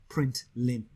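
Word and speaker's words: println: next line all right it's commonly uh pronounced print limb okay now so inside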